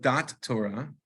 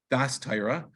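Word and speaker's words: Daas Torah: we refer to as, I'm going to call it Dat Torah, which is really not the way to pronounce it. It would be Das Torah, right?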